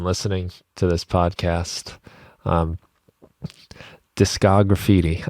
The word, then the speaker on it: Discograffiti: to this podcast um discographiti I thought it was going to be disco graffiti when I first saw it I'm so glad you know how to pronounce it nobody does discography that's